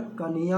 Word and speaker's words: कन्या: कन्या का उच्चारण कन्हैया होता है।